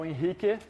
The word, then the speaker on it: Henrique: show some interesting examples my name is inik I am that's a Brazilian pronunciation of my name because I'm Brazilian um I have been